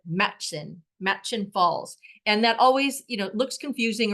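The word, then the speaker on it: Murchison Falls: It looks like it's pronounced like Murchison, but it's not. It's simply like Matchin Falls.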